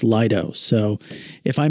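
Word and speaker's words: Lido: Sarasota for so long I kept pronouncing it Leto because of Leto key apparently it's Lio so if I mispronounce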